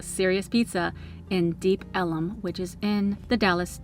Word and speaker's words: Deep Ellum: Because a lot of the establishments are on Elm Street, it was originally called Deep Elm, but the residents pronounced it Deep Ellum, so eventually they changed it to Deep Ellum.